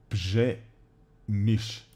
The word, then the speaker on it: Przemyśl: In Poland, when we have like R and Z next to each other, it's ž. Р и З, да. Пжемиш.